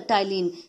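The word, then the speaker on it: ptyalin: which is also called tylene which is also called tylene here p p word p alphabet is silent sudden so it is called the tylene celebrity and amylase is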